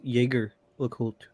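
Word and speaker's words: Jaeger-LeCoultre: earlier was that it it could be pronounced jaeger look without it being wrong so jose and jager are both correct um because it was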